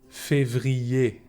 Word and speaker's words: février: ER is pronounced E. Janvier, février.